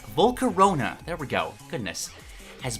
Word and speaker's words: Volcarona: at marking him as a fast electric type volcano i can never pronounce that right volcarona there we go goodness has bright orange wings